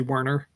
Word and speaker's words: Werner: Well, Oscar Verer, I say, but he's you know, you could say Werner.